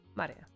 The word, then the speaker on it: Maria: Of course, that is pronounced Maria.